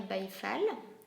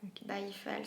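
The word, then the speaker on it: Baye Fall: j'ai travaillé sur euh la mystique du travail byfal bafal ça s'écrit B a y E F a l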